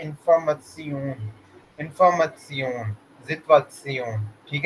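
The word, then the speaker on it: Information: ये आता है ना, TION, ठीक है, तो इसकी जो प्रोनाउंसिएशन होती है ना, वो हमारे पास होती है सियून, सियून। ठीक है, जैसे कि फॉर एग्जांपल इंफॉर्मेशन है ना, इंफॉर्मसियून।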